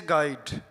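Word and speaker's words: guide: यू कब silent होता है? रूल देखिए क्या है? जब यू के बाद वोवेल आए। तब यू साइलेंट होता है। जैसे गाइड जी यू आई तो यहां पर यू नहीं पढ़ेंगे। गाइड गिटार जी यू आई है तो आई को पढ़ेंगे। यू को नहीं पढ़ेंगे।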